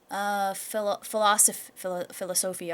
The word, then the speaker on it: philosophy: Yeah, there's a lot of higher philosophy, I almost said. It's like wrong emphasis on the wrong syllable.